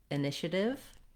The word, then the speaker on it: initiative: But initiative doesn't follow that pattern. And so if you struggle with this word, it's probably because of that you may want to, you see that ative and you want to pronounce it that way. Also, the other error pattern that I often hear is that initiative has 4 syllables, but it kind of looks like initiative.